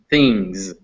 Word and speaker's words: things: just one sound and while ends in an s it's pronounced z so it's spelled things but it's pronounced things so going one down